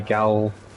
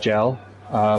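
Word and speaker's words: gaol: They look like the Gowl. Lots of people want to say it's just gel. People actually use the word Gowl, so don't correct people in the way they pronounce things.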